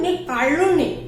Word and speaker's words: निकालूनी: कालूनी है, कालूनी, लेकिन ये जो ल है वो ल का उच्चारण ड़ टाइप का करते हैं, कल्लू, कल्लू बोलते हैं, ठीक है ना। तो निकालूनी, निकालूनी, ठीक है, इसको बोलेंगे।